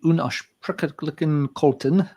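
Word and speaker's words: Unaussprechlichen Kulten: Newer band from Chile, Unausprechlichen Kolten.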